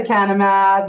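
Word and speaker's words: lecanemab: Can you pronounce it for me? The canamab.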